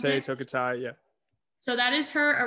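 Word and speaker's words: Tokitae: How you pronounce Tokite, it? Tokitai, yeah.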